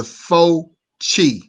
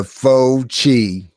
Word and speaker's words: Fauci: Let me teach you how to pronounce Italian. Hold on. Yeah. It's okay. It's okay. This is the Fauci. The Fauci.